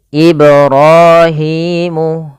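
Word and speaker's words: إِبْرَاهِيمُ: Ibrahimu. Ibrahimu. Panjang ra dan hi harus sama, kedua-duanya hukum tajwidnya mad thabi'i, fathah bertemu alif, kasrah bertemu ya seperti ini.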